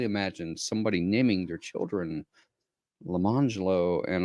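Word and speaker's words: Lemonjello: jello and orange jello, but they were not pronounced lemon jello and orange jello. It was lemangelo and orangelo.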